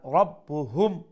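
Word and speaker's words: رَبُّهُمْ: শাদ্দা double double sound আর রব্বুহুম হা মিম পেশ হুম এখন দেখো কেন আবার মিম সাকিন আইছে না এখন মিম সাকিনের পরে কইছিলাম কোন দুইটা অক্ষর খেয়াল রাখতা বা আর মিম আর একটা মিম অথবা বা তো দেখো কোন লেটার আইছে বা আইছে এখন আমরা এই মিম সাকিন রে ইখফা করি আমরা পড়মু যেটা ইখফায়ে শাফাই হয় রব্বুহুম রব্বুহুম এরপরে বিদান নুন সাকিনের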